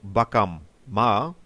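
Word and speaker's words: bakamma: Ma means our so bakam ma means our shop it's extremely important to pronounce both m in this word otherwise you may indeed be misunderstood well it seems arara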